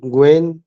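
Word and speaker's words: Nguyen: एन एन जी है एन जी यू वाई ई एन एन को silent पढ़ेंगे एन को एन साइलेंट होगा और बहुत बड़ी लीडर है हमारी और ग्लोबल लीडर में आती है तो जूली ग्वेन का जो आया आपको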